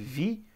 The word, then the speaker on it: vi: Se escreve Vi, mas se lê VI, tá?